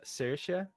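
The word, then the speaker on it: Saoirse: Um and the girl's name is uh Cersea. which is also an Irish name. How do you spell that?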